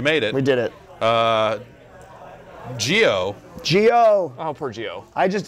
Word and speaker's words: Geo: Geo shook. Geo couldn't do it. Geo couldn't Yeah. take the heat emanating from the Video James character. It's a soft G that's coming here correct on this couch.